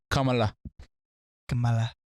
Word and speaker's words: Kamala: what are we doing is it really kamala kamala i thought it was kamala i'm sorry i said camelot as a joke it's kamala i can't you can't say